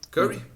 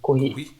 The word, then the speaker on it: Curie: Curry? Curry. Marie Curie. Ela é Curry é Mary Curry é por causa das séries que geralmente assistem, né? Mary Curry. Talvez você já pronuncie em inglês. É francês. Curie.